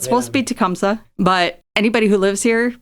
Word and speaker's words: Tecumseh: one of the things he said about Chief tumy or tumsa depending on how you pronounce it okay so it's supposed to be tumsa but anybody who lives here pronounces it wrong